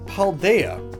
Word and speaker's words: Paldea: ahead of their time it's a really good paldea and it kind of rhymes with idea that's that's what i was getting at there but it's likely not named paul deya just because of the